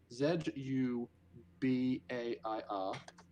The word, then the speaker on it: Zubair: named z z z zubair how do you spell that z u b a i r his name is zubair that tripped me out